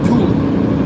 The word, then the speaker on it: Tooele: Now, I was making the mistake because I heard it wrong and I was going to pronounce it wrong. I thought it was called Tooele. T-O-O-E-L-E. Tooele.